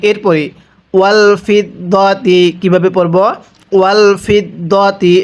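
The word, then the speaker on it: والفضة: ওয়াল ফিদ্দাতি, এটাকে ফিদ্দাতি পড়লে পড়াটা সহি শুদ্ধ হবে না, দত জবর দ পড়তে হবে।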